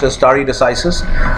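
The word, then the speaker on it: stare decisis: understand or remember is story decisis this is pronounced istari decisis which is the part of a longer latin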